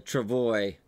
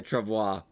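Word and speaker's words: travois: bit I was apologize I have been mispronouncing uh uh Travoy is actually I don't say trevoir but no it's not French uh Trip Away also if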